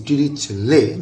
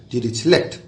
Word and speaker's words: Dirichlet: This T is silent, so it is Dirichlet, not Dirichlet.